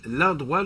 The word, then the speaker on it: L'A-Droit: Donc, l'endroit, là, je vous le dis, ça s'écrit L''A', trait d'union, droit, D-R-O-I-T.